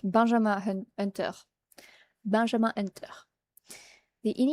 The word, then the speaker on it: Benjamin Hunter: In French, you pronounce that Benjam Hunter.